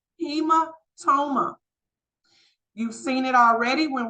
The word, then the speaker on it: hematoma: Next, the next H word is pronounced hematoma.